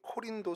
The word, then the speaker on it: 고린도: 고린도 맞습니다 어 먼저이 고린도는 이제 코린 코린도 이제 발음을 헬라를 해야 되는데 코린도 이제 뿌리라는 뜻을